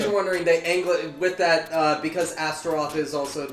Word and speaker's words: Astaroth: Again, In case you're wondering, with that, because Astaroth is also the name of a demon, they anglicized the Japanese pronunciation to make it a little more. So it's Asteresu. Oh, okay.